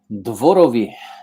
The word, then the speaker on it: Dworowy: and to be here okay so I I butchered your last name how do you say your last name Dori easy that's exactly what I was gonna say